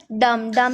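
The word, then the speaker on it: dumb: Next है डम में बी साइलेंट, पाम में एल साइलेंट, प्लम्बर में बी साइलेंट, एमंड में एल साइलेंट।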